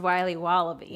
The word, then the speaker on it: Wiley Wallaby: willy's wallabies wallaby wallies will be wobbly it's pronounced wiley wallaby well it's very good it's called wiley wallaby